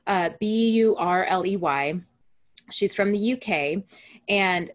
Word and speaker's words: Burley: So her name is Kay Burley, I believe is how you pronounce her last name, Burley.